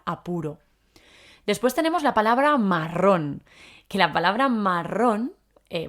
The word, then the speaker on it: marrón: es un color aquí la palabra marrón con acento en la o es un sinónimo de